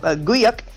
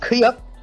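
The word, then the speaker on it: Güyük: So 1246, we have Guyuk or Kuyuk. Yeah, it's Kuyuk, but it's pronounced. It looks with a G. It but sounds anyway, like the noise a plunger makes.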